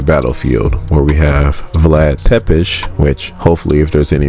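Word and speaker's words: Țepeș: Romania on a battlefield where we have Vlad tepesh which hopefully if there's any Romanian people watching you guys appreciated that pronunciation it's on the battlefield doing his thing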